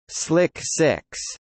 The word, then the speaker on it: SLC-6: Space Launch Complex 6 SLC-6, pronounced Slick 6, at Vandenberg Air Force Base in California is a launch pad and support area.